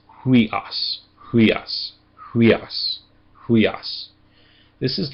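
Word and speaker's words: υἱός: So this one needs to be pronounced with an h in front of it. So it's huas.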